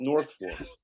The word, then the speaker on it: Norfolk: It's spelled Norfolk, but they call it North Folk.